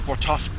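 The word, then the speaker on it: Bortasqu': I had the Bortaskew, because Corin can't pronounce the name of her own damn ship properly. It's Bortask.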